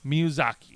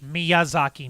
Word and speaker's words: Miyazaki: the main story of the return of hayo miyuzaki miyazaki miyazaki thank you miyuzaki like why are you